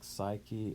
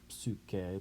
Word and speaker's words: psyche: Anima can be spirit or life force, sort of like psyche in Greek, or psyche, to use the Greek pronunciation.